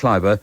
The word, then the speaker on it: Llyfr: It's double L WYBR, that's the first word, then double LAETHOG. Double LWYBR, Llyfr, and then double LAETHOG. Llaethog.